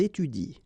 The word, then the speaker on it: étudient: exactly the same rule because you don't pronounce this and then even if it's at the plural form, so and t, well, you don't pronounce it, so you will get ils étudient. All right, ils étudient. You don't pronounce that.